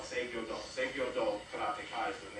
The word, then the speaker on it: Seigyo-do: Now, this is where the title of my art is called Seigyo-do.